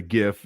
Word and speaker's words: GIF: the inventor of the gif just died and he pronounced it like jif peanut butter thank you michael casell